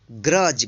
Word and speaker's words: grudge: तो आप जो है ध्यान रखिएगा, जब भी किसी वर्ड में जी से पहले डी आता है तो डी यहाँ पे साइलेंट रहेगा और इसका उच्चारण ज होगा।